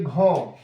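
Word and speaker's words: grand: French में बोलेंगे घों, the pronunciation, it means toll.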